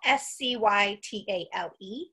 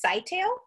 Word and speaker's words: scytale: And I found a lot of places that said you say it's Scytale, and I found an equal amount that say Scytale.